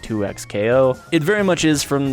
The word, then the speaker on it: 2XKO: one of my recent videos saying it wasn't pronounced 2x KO it very much is from the literal mouth